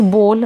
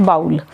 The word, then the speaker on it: bowl: नाउ the pronunciation is बोल नॉट बाउल।